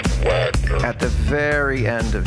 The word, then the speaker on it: Wagner: Wagner would only use the 5 chord It's pronounced Wagner.